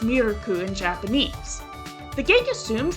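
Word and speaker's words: ミルク: She says Anna, Miru, and Jet Senpai's names for the first time, though she calls Miuku milk because it's pronounced Mirku in Japanese.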